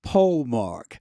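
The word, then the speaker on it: polemarch: and he's called I'm gonna spell it and you tell me how to say it. Yes. P O L E M A R C H. Yes. How do you say that? Pole mark. Polemark. Okay. A polemark.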